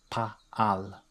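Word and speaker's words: פָּעַל: So in pa'al, that vowel pattern is a, pa'al.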